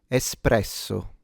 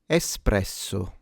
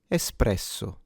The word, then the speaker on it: espresso: This is pronounced espresso. Espresso. Espresso. Espresso. Now note please that there is no X.